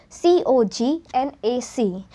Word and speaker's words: Cognac: Then we have the sixth one, which is we pronounce it as C-O-G-N-A-C. The pronunciation is as Cognac.